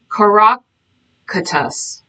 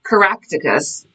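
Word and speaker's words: Coroticus: to pronounce this uh Caracus coracatus not Caracticus who was lived 400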